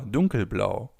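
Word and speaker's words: dunkelblau: After two keys or hell blau, we have blue or dark blue which in German would be blow or dun blau blow blue dun blau dark blue.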